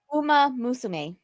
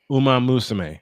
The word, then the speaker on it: Uma Musume: If you were a VTuber and not playing, how do you Uma pronounce that? Musume. It's basically one more time, honey. Say it again. Uma Musume. Uma Musume.